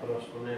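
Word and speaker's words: προσκυνέω: En en español sería una P, una R, una O, una S, una K, una U, una N, una E y una O. Se pronunciaría proscuneo proscuneo.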